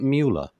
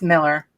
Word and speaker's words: Mueller: Is it Mueller? It's Miller.